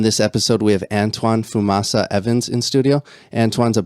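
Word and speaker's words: Fumaça: Fumaca, is that how you pronounce Fumaca. it? Fumaca.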